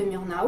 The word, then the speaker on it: Murnau: c'est que ce film c'est un film de murnau ou voilà on prononce comme ça et c'est un film qui